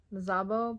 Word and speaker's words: Szabó: Yeah, it's spelled Magda Szabó, but I think it's pronounced Magda Szabó.